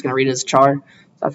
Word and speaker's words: char: there's a type called Char some people pronounce it as care I'm just going to read it as Char that's how I learned